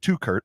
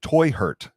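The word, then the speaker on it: Teuchert: Yeah, it's actually pronounced Toy Hurt, according to the St. Louis Post-Dispatch. They even said that in their article. Germans. So Toy Hurt, my toy got hurt.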